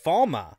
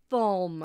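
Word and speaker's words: Falme: into foam bomb because in the books the pronunciation's different spelled the same spell the same but it's pronounced falma yeah f-a-l-m-e yeah and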